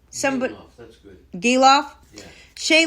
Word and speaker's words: Gelof: Ramon Laureano and Zach Gelof. I don't know how to say his name. Gelof, that's good.